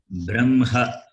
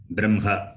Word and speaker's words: Brahma: This particular combination, hakara is the first consonant and makara is the last consonant. But when you pronounce, makara should be pronounced first and hakara later. Therefore, the correct pronunciation is Brahma, B-R-A-M-H-A.